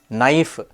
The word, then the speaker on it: knife: it's a silent a knife K silent gome g is silent